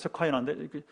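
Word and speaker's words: Shekinah: 그 쉐카이나, 그 발음이 이제 영어식 쉐카이나인데 그 쉐카이나 영광하면서 능력의 주님 나타나소서 이렇게 부르는 게 있어요.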